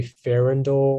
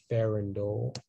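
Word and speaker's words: farandole: pronunciations um it's like it can be farrendall or pharyn dole excuse me uh pharyngeal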